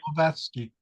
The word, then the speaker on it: Blavatsky: Was it created by Blavatsky, I believe her name was? Am I pronouncing her name correctly? Blavatsky, Helena Petrovna Yes. Blavatsky.